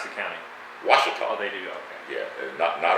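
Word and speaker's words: Ouachita: small town and the county how do they pronounce the county washita they do yeah notnot o queer yeah when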